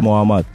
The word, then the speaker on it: Мухаммад: Меня зовут Мухаммад. Да, вот. М? М. Как читается, так и слушается.